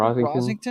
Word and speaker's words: Rossington: Parade here is Leonard Skinner's founding member Gary Rossington. Am I pronouncing yeah, that correctly? Rosington. Rosington.